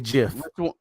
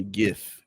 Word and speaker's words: GIF: a gif it's definitely jif i'm telling you like no just like i think it might be gif gif like with almost like gift with a t but no t gif like the t